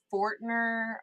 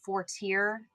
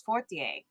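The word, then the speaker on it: Fortier: And so it would always come out forner or uh uh or they would pronounce it like uh for tier which is actually how my parents now ask people to say it but it's forier and they would no one could say that right and so now it's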